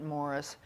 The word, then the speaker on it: Maurice: of which UN Agenda Maurice he pronounces it Morris strong was director President